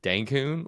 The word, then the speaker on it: Dencun: Cancun and denb also Denon rhymes with dankun which this was a